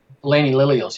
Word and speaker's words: Elainie Lillios: Elainie Lillios, yes.